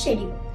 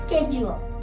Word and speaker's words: schedule: schedule yes you're correct in the uk accent they call says schedule but in the u.s accent they call it as schedule let's move to the